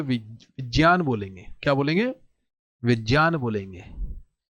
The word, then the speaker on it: विज्ञान: कोई स्पीच सुनोगे तो विज्ञान बोलेंगे क्या बोलेंगे विज्ञान बोलेंगे हम प्रण इसका जो उच्चारण होता है वह ऐसा ही होता है कैसा होता है विज्ञान होता क्लियर है विज्ञान श्रत